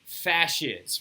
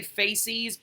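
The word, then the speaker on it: fasces: there is called a fascist right f-a-s-c-e-s f-a-c wait f-a-s-c-e-s right a fascist right you will hear me say faces all the time because i've been mispronouncing it for years apparently but the fascist is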